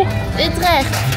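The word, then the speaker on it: Utrecht: 우리 지금 우트렉 들어왔어요 본트 발음으로 우트렉 우트렉 저것은 토 오 그니까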